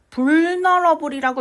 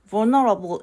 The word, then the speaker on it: vulnerable: 그래서 단어는 발음이 조금 힘들 수 있는데 이거 vulnerable이라고 읽지 않습니다, 여러분. vulnerable l 발음이 거의 나지 않고 유가 우라기보다는 우와 어에 가까운 발음이 나요.